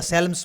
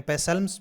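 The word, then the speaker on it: Psalms: कब मिला 1983 में लेटर डे पासम बोल दो या साल्म्स बोल दो तो दोनों के दोनों पी साइलेंट भी रखते हैं और कुछ लोग साइलेंट नहीं रखते तो अपने पैसल मस भी बोल सकते हैं और साल्म्स भी बोल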